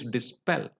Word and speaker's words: dispel: I mentioned that the next rule is verbs of two syllables beginning with the prefix this for example disable dispel or disturb disclose so in such words the the words beginning with this prefix this they are stressed on the last syllable you know how I